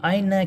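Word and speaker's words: أين: এই আয়না বাক্যের যেখানেই থাক এই হামজাটা উচ্চারণ হবে। যেমন এখানে প্রথমে আছে আমরা আয়নাই উচ্চারণ করলাম।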